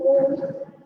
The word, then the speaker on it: Om: Pronouncing Om, Om is the first universal sound. When we pronounce Om, it is a combination of 3 syllables, that is A, U and Ma.